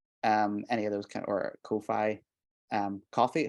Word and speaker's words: Ko-fi: But you know, it's spelled Ko-fi as in sci-fi, you know.